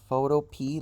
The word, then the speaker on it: Photopea: It is spelled Photopea like the vegetable, PEA, that's it.